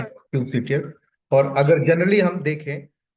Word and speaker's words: kubectl: और कोई cube सीटीएल बोल रहा है, क्यूब, कोई क्यूब कटल बोल रहा है, बट एक्चुअल में ये है आपका क्यूब सीटीएल।